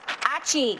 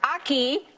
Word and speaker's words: Achi: I always say it wrong. Achi. No, I didn't sneeze. Thank you for telling me I didn't sneeze. But Aki is our next game.